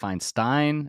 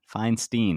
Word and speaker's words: Feinstein: button man I'm like most people are like f Stein finsten Feinstein man right on the button I dig it